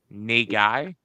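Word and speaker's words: 苦い: You could get in trouble for dating the Japanese word for bitter. It's pronounced Nay guy.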